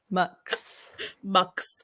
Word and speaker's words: Mx: Lee let's talk about how to pronounce MX mucks I can't believe whoever invented this went with mucks it was right there well you can say I'm pretty sure you can say it mix too but Max is just